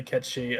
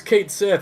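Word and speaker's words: Cait Sith: was a kid I I would say catchy which is is probably it might also be me pronouncing it wrong because my pronunciation of everything is atrocious um but yeah like they'd be like no stupid it's Kate Sith and I'd be like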